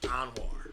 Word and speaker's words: Anwar: My name is actually pronounced Anwar, right?